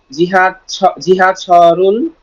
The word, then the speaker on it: 지하: 십팔과 보수나 지하철을 타고 가요. Very good, সুন্দর আছে। তবে জিহা হবে না, হবে ছিহা। ছিহা, এটাকে ইচ্ছাকৃত হবে হালকা করে ফেলবেন। 지하, 지하, হ্যাঁ, বসু বলবেন না, বলবেন ভসু।